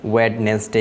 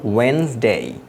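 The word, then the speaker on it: Wednesday: শব্দটির দিকে লক্ষ্য করি আমরা এটিকে অনেকে ওয়েডনেস ডে বলি কিন্তু এটির উচ্চারণ হলো ওয়েনসডে ওয়েনসডে সো এটি আমাদেরকে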